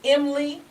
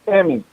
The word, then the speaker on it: Emmy: And pronounce the name of the program is Emily. It's Emmy.